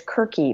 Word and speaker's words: Circe: Maybe it's Kirky, maybe it's Circe, but it's C-I-R-C-E.